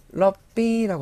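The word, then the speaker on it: ล็อบบี้: 네, 태글리시로 럽비라고 하시면 됩니다. 삼성으로 럽 그리고 이성으로 비 하시면 되는데요. 럽비 하시면 이게 로비입니다. 로비. 영어 발음 그대로 하시면 되고.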